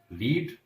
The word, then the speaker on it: read: रीड, इसका Hindi meaning हो गया पढ़ना, सेकंड फॉर्म हो गया रेड, although spelling is same, spelling इसकी सेम है। देखिए आप फर्स्ट फॉर्म में भी READ रीड था और सेकंड फॉर्म में भी READ लिख रहे हैं, लेकिन इसको पढ़ेंगे रेड। और third form is also same spelling READ और इसको भी पढ़ेंगे रेड।